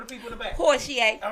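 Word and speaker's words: Porchie: it again for the people in the back porier right how we find how we find you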